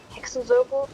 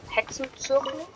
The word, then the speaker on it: Hexenzirkel: Also, it's not Hexenzirkel, it's Hexenzirkel. Circle.